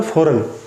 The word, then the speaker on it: foreign: अब next word है फॉरेन। फॉरेन word जो है ना, इसमें G साइलेंट होता है।